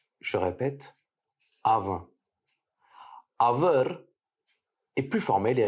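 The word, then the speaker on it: அவன்: Pour dire il en tamoul, on dira aven. Je répète, aven. Il s'agit donc de la forme informelle. Dans le tamoul parlé, le N final est un son nasal. Il se prononce avin. Je répète, avin.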